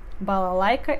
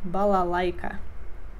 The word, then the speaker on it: балалайка: Балалайка é um instrumento tradicional russo. Балалайка. Conjugação completa. Я играю.